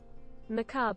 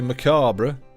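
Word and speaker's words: macabre: the cob but in British it's ma bro maab BR it's even look ma bro I am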